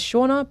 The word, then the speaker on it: Shaunagh: So my name is Shaunagh, but it's spelt with a silent GH on the end.